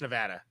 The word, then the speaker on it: Nevada: was south carolina nevada it's pronounced nevada all right well everybody gets it wrong and it makes me